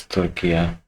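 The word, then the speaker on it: Türkiye: लेकिन ये judgement I like the fact he's pronouncing Turkey as Turkiya, which is the right pronunciation.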